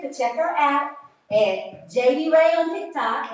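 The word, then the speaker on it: Jadey: Y Y R R A E and it's pronounced JD Ray.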